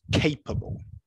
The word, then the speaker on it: capable: Okay, so everyone knows, okay, the stress is the first option.